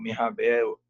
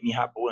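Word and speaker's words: Mirabeau: fisiocratas franceses o ke G Mirabel é mirabo na verdade a pronúncia né estranho mas mirab DG Qual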